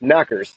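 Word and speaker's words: Tommyknockers: across like the us the name tommy knockers pronounced knackers so tommy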